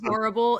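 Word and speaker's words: Morrible: I don't know why Morble. It's just with an M. Morable.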